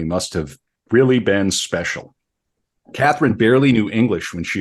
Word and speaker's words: Katharina: I'm going to call her Catherine. It probably would have been pronounced Katharina.